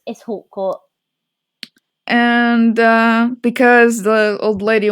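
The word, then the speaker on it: Hautecourt: My pronunciations are going to be awful. I don't remember his last name. It's Hawcourt.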